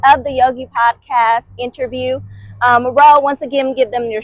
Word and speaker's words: R.O.W.E: Yeah, my name is R.O.W.E. That's R-O.W.E, pronounced like front row seats.